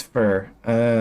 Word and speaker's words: Fur: Anyhow, the name's Fur. Sounds like fear, right? Fear? I guess. Yeah, I guess that's the pronunciation. Sounds like peer, too.